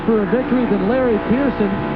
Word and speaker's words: Pearson: It'll be 2 to go this time by, and 2 to go, and you said it right, it's Pearson.